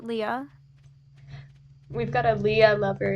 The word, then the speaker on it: Leah: Is it Leah or Leia? I pronounce it Leah.